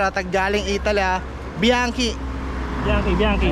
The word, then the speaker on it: Bianchi: Tama si sir at tag galing Italy ah bianchi bianchi bianchi O ayan mga da yung sukat